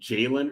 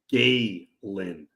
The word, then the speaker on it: Galen: You've been saying Jalen Urso. I think it's pronounced Galen Urso.